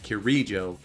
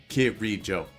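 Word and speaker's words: Kirijo: K kir Jo too he said KIRO putting emphasis on the on the second e KIRO but it's KIRO KIRO anyway sorry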